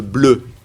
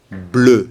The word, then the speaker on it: bleu: Attention avec le bleu. Il ne faut pas confondre avec l'anglais blue. Non, non, c'est pas blue, c'est bleu. C'est le E français, c'est la bouche bisou.